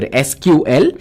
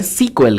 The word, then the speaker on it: SQL: And if you're wondering how SQL is pronounced, it is pronounced as either SQL or it's called SQL, guys. Pretty much you will find developers, enthusiasts, and many others either calling it SQL or SQL.